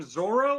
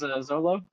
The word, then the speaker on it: Zoro: Viz says it as Zolo. Yep. It's Zolo. Um they they they change they swap Rs and L's in a lot of the stuff.